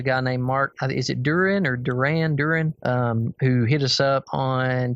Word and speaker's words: Duran: Yeah, so I'm going to assume that his name is pronounced Duran, like the band, right?